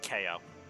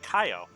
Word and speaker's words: Kyo: I never said KO. I said Kaio. How do you say his name then? It's Kyo? Like, no, there's a Y.